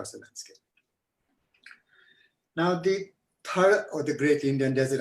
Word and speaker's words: Thar: reach for thar, but the way we read thar has become thar. But interestingly, I discovered recently that in Pakistan, when they talk about their part of the desert, they spell it thull, which is thar as well. So actually, it's not important, but the correct pronunciation of thar is actually thar.